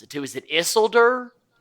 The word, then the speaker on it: Isildur: My sad sack, and I might mispronounce it too. Is it Isildur? Isildur.